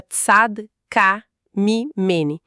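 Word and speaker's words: צדקה ממני: E Odá declara publicamente aquelas palavras que ficam ecoando: Tzadakamini. A gente pronuncia Tzad-ka-mi-meni, que significa ela é mais justa do que eu.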